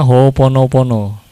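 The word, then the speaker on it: Hoʻoponopono: lagi kan Ya sudah hooponopono ya Ada o-nya dobel tapi kan bacanya hoonopono apa katanya please please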